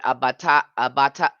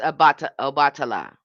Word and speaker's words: Obatala: And then the throat chakra is associated with abata. Okay, I'm going to say it wrong. Abatala. Again, bringing in clarity, speaking truth, aligning with divine communication. That's Obatala.